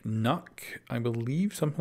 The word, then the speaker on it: Nøkk: the line through it which I believe is supposed to be pronounced something like knok I believe something like